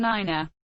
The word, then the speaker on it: niner: command to shoot and nine has an extra syllable to keep it distinct